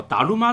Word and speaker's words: ダルマ: 玛扎美，达鲁玛就是达摩的意思，而且是根据中文达摩的发音音译过去的。